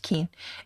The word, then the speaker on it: Kuehn: my name is keane yes it's pronounced keen and i am a